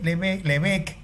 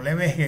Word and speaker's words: Lebesgue: Lebesgue, Lebesgue, que es como se pronuncia, no Lebesgue, como iba a decir, Lebesgue, fue capaz de construir